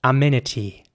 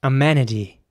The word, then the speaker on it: amenity: it would be pronounced amenity in American English it would be pronounced more like amenity with an air sound in the middle so the E is pronounced more like an a amenity and the T at